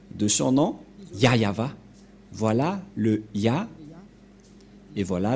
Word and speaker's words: Yahvah: ne voit rien et donc c'est bien la prononciation de son nom yayava voilà le ya et voilà la suite après